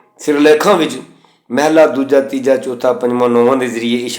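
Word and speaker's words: ਮਹਲਾ: ये जड़ उच्चारण है इसन महल्ला या महल करना ये ठीक नहीं है उ अर्थ इमारत वाले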